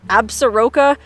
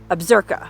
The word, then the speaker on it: Absaroka: how you pronounce that it looks like absaroka but I watched a bunch of YouTube videos and I'm pretty sure it's pronounced absurka anyway I drove all